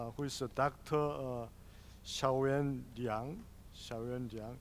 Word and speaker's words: Xiaoyan Liang: Xiaoyan Liang. In Korean pronunciation is Yang Xiyan, but Chinese pronunciation is Xiaoyan Liang.